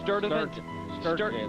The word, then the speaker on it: Sturdivant: It's some hard-to-pronounce place in Selma, Alabama. Where is this? Rick, it's Sturdivant.